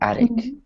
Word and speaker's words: addict: So the T on the end of You word see, is usually weak. you are not pronouncing the T. Yes, good. Good observation. So the first time I did, just because I was emphasizing the word, but usually when we're reading or speaking quickly, words that have a T at the end, we don't pronounce them. So we just say attic.